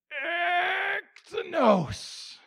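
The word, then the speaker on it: ἐκτενῶς: The word is pronounced something like this. Ektenos. Ektenos. Except here's the way you want to say it. Ektenos.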